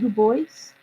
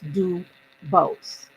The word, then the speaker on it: Dubose: is it good boys I I just said that it's do both and then I spell it for people it's capital D lowercase U capital b o s e there's no I do a lot of deep voices in the world mine is just do both not do voice